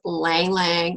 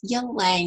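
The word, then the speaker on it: ylang-ylang: the super woman blend this is ylang ylang or you can pronounce it young laying you lie if you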